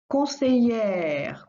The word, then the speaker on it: conseillère: All the jobs that end in ER makes the sound E in French. In the masculine, make the sound R in the feminine.